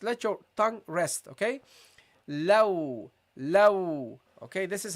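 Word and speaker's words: ل: And we got then the lam, low. Don't make this heavy. Don't say low. Light, okay? Just let your tongue rest, okay? Low, okay?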